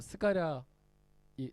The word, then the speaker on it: 스가랴: 그런 거랑 똑같은 거예요 원래 이름의 발음은 히브리어 발음이 따로 있는데 이거를 아랍어로 바람을 했을 때 사가랴가 되는 거예요 원래 히브리어 발음은 뭐냐 바로 스가랴입니다 스가랴 다 들어보셨죠 우리 구약성경에 보면 스가랴이 제사장이 나오잖아요 그러니까 굉장히